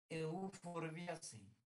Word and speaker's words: Euphorbiaceae: Euphorbiaceae. ¿Va? Acuérdense ahí, es pH. Ya sabemos pronunciar que pH es F.